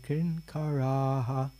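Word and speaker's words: किङ्कराः: Yeah, just note from what I understand of Sanskrit pronunciation, we have the last word kinkaraha. The last A is long, and there's a visarga on the H, so there's a aha.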